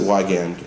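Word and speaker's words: Wiegand: Now, some of you may pronounce it Wigand, Wigand, Wagand. I pronounce it Wigand, and for me that's correct.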